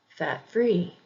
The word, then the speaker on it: fat-free: Compound adjectives usually have the emphasis on the second syllable as well. Fat-free, fat-free. Middle-aged, middle-aged. Again, don't forget that not all English words follow this pattern either.